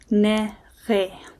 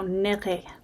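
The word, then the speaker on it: niri: Nerre. So, it's kind of that French R if you speak French. So, nerre.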